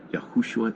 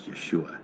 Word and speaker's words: Yeshua: Yahushua is not a proper pronunciation in Hebrew. That breaks the rules of Hebrew grammar. Hebrew, correct, biblical, and modern Hebrew grammar, it's Yeshua, not Yahushua.